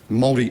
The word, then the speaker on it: Māori: That so often, to the member's remarks about Māori and Maoridom, if I pronounce it correct. Oh, he actually got it correct.